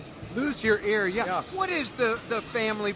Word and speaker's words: Luzier: And you say lose ear, even though it's Z-I-E-R, which is like brazier, lose ear. Or loose ear.